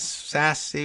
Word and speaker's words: Sasse: another important story and then Thank You Ben Sasse sassy when did we learn how to pronounce that senators name for pursuing truth that